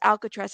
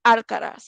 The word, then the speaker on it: Alcaraz: Now, a lot of people were saying her last name was Alcatraz. It's Alcaraz. It's a different pronunciation. There's no T.